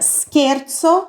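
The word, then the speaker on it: scherzo: vimos também a palavra skerzo skerzo Olha como se escreve isso daqui ó o c e vai ser sempre o som de q então com s no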